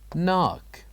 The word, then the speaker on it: knock: what do you think what is the silent letter in this word knock knock the silent letter here is K here we wrote K but we don't say it we say knock knock and now let us